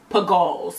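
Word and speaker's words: Pigalle: These are the Pagals. I believe this probably is pronounced. Pagal? I think it's Pagals. Pagals.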